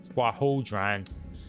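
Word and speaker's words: Quarhodron: I see Quahodran. That's how you pronounce it. Quahodran. It's hard to say with the I's in there.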